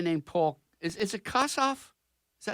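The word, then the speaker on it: Kossoff: Is is it Kasaf? Is that how you pronounce it? Yeah. Kasov.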